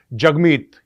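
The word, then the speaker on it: Jagmeet: ये दिखाया है कि जगमीत you know is pronounced as जग and rhymes with hug.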